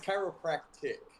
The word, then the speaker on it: chiropractic: this what is the word for it it's chiropractic chiropractic okay hectic and i'm a chiropractor okay